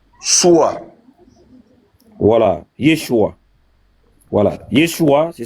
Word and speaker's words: Yeshua: Après, on va aller lire Matthieu 1, verset 20, pour voir le nom de Jésus, comment c'est prononcé là-bas. Ouais, lis. C'est quel nom qu'elle a? Yeshua.